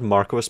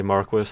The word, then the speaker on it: marque: case that the original etymology is of course marque in all cases and the only exception relate to that as being the acceptable pronunciation as an England where for some reason